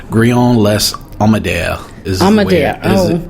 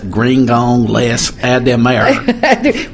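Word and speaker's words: Grignan-Les-Adhémar: the whole pronunciation, but I would say Grignan-Les Adhemar is how I would go for it in my really fake French faux pas accent.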